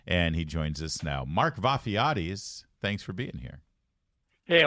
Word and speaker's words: Vafiades: much Fairfax County and he joins us now Mark vafiatis thanks for being here hey I want to thank you you guys pronounced my name perfectly thank you surely you